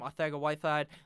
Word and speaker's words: Arcega-Whiteside: That's how you say his name, Arcega-Whiteside.